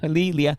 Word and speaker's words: Leah: Leah.